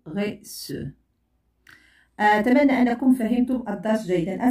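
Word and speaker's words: garçon: وهناك غي سو هنا إذا لم أضع سيديل ستنطق غي كو ولكن عندما سأضع هذه العلامة ستنطق غي سو أتمنى أنكم فهمتم الدرس جيدا سنتقل إلى الإجابة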